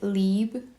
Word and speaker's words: Libre: original Libre which I know this is technically pronounced like leeb but for some reason that feels hard for me to say every time so I just say Libre usually but this one for some reason when